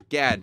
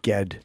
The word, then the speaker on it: Gad: No, it's Gad, not Ged. You said Ged. It's Gad.